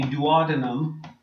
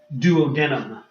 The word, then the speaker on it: duodenum: that I labeled A is called the duodenum, or some people say duodenum. Tomato, I don't care how you pronounce it.